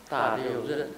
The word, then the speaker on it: 大六壬: 大六壬大六壬啊，就是一个人，如果一个人字旁就是壬，但是没有那个人字旁，那就大六壬。 So you pronounce it 壬。